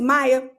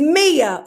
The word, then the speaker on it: Mia: I said her name was Maya. She ain't deserving of Maya. Her name is Mia, okay?